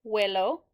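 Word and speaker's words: huelo: be a stem changer so Spanish says let's put in a silent letter H because the H is never pronounced so the yo form is wellow two formes L but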